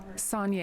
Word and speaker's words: Son: I am here with how do you say your last name son okay so it's